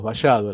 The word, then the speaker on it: vallado: traducirlo esto, pero bueno, acá en el Río de la Plata decimos vallado, la Elie la pronunciamos como una Y.